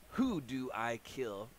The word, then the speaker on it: Hudu Akil: weight skip uh it's from who do i kill pronounced who do i kill uh the name of